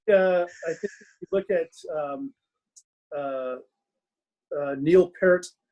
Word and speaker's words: Peart: I think if you look at Neil Peart, he pronounces it Peart, by the way, like the yes. Yeah. People call him Neil Peart, and it's not. It's Peart, if I'm saying it right.